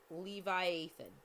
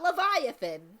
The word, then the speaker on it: Levi Ethan: It's Levi Ethan. Levi Ethan. It's like a hyphenated name of Levi and Ethan. Yeah, Levi Ethan. It sounds kind of like Leviathan, but not quite.